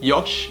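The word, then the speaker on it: よし: this NASA game boy yash means okay and it's normally pronounced in like a really excited way like Josh and it's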